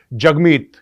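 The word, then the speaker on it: Jagmeet: ये दिखाया है कि जगमीत is pronounced as जग and rhymes with hug.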